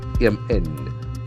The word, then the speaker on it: condemn: Contemns, CONDEMN. When you contemn on something, what happens? Contemns. It's a beautiful verb. Condemn. Contemn. The accent falls on second syllable.